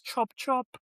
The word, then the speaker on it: Chop Chop: So it's chop chop chop chop. Sorry. Chop chop. You have to say the Nigerian way.